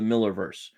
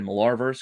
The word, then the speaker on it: Millarverse: Continuing to give us new minis based off of the Millerverse. I know I want to keep saying the Millarverse because it's how it's spelled, but it's the Millerverse.